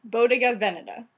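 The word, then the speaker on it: Bottega Veneta: we could figure out it's supposed to be V so emphasis on the first word Boda Vena yes okay so I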